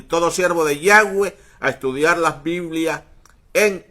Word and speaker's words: Yahweh: Por eso los católicos hoy día tienen la pronunciación del nombre sagrado en fonética española, Yahvé, pero la real pronunciación es en fonética hebrea, Yahweh.